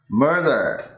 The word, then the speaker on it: murder: Murder. Am I saying that right? Okay, so the beginning was great, Mur. but then make sure that you don't stick the tongue up for the D.